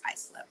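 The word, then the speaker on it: Islip: I pronounced it is one time and then somebody was like, "No, it's Icelip." So, we're in Icelip, New York out on Long Island.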